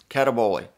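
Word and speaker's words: καταβολή: word greek word cataboli k-a-t-a-b-o-l-e with a little accent on the e gotta have the accent cataboli what english words come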